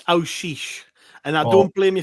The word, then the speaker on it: Aouchiche: Adel Aichi is how I'm going to pronounce his surname. But Gav, welcome to the show. How you doing? I'm good. And it's Aish.